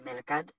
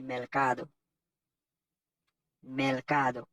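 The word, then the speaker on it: mercado: melcade MELC moi c'est pas mercade c'est merc cade qui signifie marcher et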